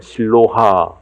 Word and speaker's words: 실로암: 불교를 믿으신 분들은 실로암 이렇게 이야기를 하면 무슨 암자를 가리키나 라고 생각하실지 모르지만은 실로암은 암자가 아니고요, 연못의 이름입니다. 예루살렘 성 안에 있는 연못인데 실제 히브리 발음은 실로하 이렇게 이야기를 합니다.